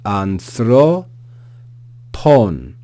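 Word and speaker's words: ἀνθρώπων: And then this long word here, we have the alpha with no aspiration, so just a. We then have the nu. We then have theta, pronounced like th, so anth. We then have the ro, anthro, anthro. See the acute accent, anthro, pon, anthro, pon.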